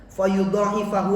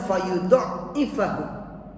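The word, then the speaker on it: فيضاعفه: Fayudifahu. Ada juga yang membacanya faydifahu. Ada qiraat yang membaca tanpa alif.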